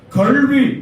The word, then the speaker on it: கல்வி: என்று பேசுகிறீர்கள் கல்வி அல்லது கல்வி லா என்பதை மிக வெளிப்படையாக நாக்கை வெளியே வைத்து உச்சரிக்க வேண்டும் லா இடையின லாவை நாக்கை லேசாக மடித்து வைத்து உச்சரிக்க வேண்டும் லா சிறப்பு நகரத்தை நாக்கை நன்றாக உள்ளே மடித்து வைத்து உச்சரிக்க வேண்டும் ழ இந்த வித்தியாசம் தெரியாமல் நீங்கள்